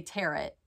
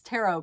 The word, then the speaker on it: tarot: think i normally say tear it and i think it's tarot cards tarot cards t-a-r-o-t i don't